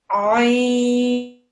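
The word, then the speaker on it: ع: It's from the very middle of your throat, and it's pronounced like this. Ain, ain.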